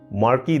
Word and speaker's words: marc: Lord Napoleon, Juliet, Shanu, marquee दे मोंटिस्क और सेम्पे। अब एक और ब्रांडी मार्क, MARC पर प्रोनाउंस करते हैं मार, MARR।